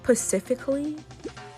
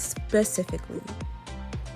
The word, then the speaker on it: specifically: have it wait hope did you just say pacifically like the ocean that's how you say it mate it's specifically unlike days Gary when you